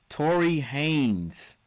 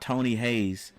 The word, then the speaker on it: Tory Haynes: Let me say it right. Tory Haynes. Not to not Tony Hayes.